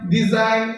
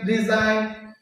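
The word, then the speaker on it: design: আরেকটা হল জি এন নিলেও শুধুমাত্র এন এর সাউন্ড করবে। এখানে জি এর কোন সাউন্ড হবে না। যেমন নো সাইন ডিজাইন ডিজাইন ফরেন এইযে এগুলাতে শুধুমাত্র কি নাই?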